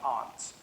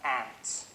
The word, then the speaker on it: aunt: For instance, I pronounce the opposites of uncle as aunt. I say my aunt. Out here you say my aunt, which to me is an insect.